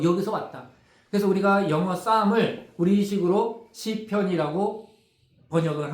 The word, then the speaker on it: psalm: 쌈이 시편이거든요. 여러분 쌈 싸먹을 때 쌈 그 발음입니다.